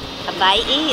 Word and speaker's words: Hawaii: Hawaii is the proper pronunciation.